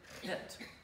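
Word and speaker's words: חטא: Chet and tet, we hear when you say it, chet. You don't hear the aleph. Why? The aleph is silent.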